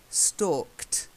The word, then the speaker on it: stalked: The first one, it's a silent E, but you've got to get the D sound. To stalk, stalked. Try it. Stalked. That's better.